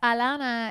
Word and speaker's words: Alana: Well, so it's Alana. It has an H, but it's a silent H because in Spanish you don't pronounce the H's.